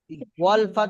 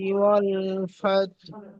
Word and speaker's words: والفتح: إذا جاء نصر الله والفتح. ওয়াল ফাত, এই হাটা, হাটা والفتح লাস্টে, লাস্টে হাটা উচ্চারণ হবে। ওয়াল ফাত, ফাত, বুঝতে পেরেছেন? والفتح. জি, ফাতহু, হুটা আস্তে, একদম আস্তে উচ্চারণ।